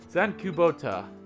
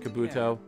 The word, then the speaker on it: Kubota: Okay, some of these names are easy to pronounce. There's like Sach. Oh, okay, I'm kind of getting Sachika's now, so. Zen Kubota. All right. Nice to meet you too, Mr. Kabuto.